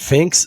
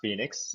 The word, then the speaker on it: Phnxx: He's the founder and CEO of Is it Fin? I guess I should have asked you. Yeah, Andrew. Uh, it's it's actually pronounced Phoenix.